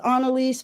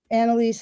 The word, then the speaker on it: Anelise: Um well, my mom says Anaise, but people just say Anelise. Donnaise, you know, as the as the spirit moves them and that's totally fine with me.